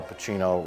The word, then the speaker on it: Pacino: singing a song, because Al Pacino rhymes with cappuccino or something.